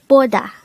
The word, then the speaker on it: 보다: This is a two-syllable word. The first syllable is bo, the second syllable is da.